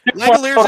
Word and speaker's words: Langeliers: But I probably spelled this man's name wrong, and I'm pretty sure I'm gonna say his name wrong. But Shane Langeliers. Langeliers is correct, and you did spell it wrong, but I corrected it, so we're good.